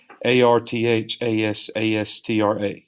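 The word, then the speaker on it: Arthashastra: hand book called the arith Astra I may be mispronouncing that it's AR th a SaaS tra this book proposed tough-minded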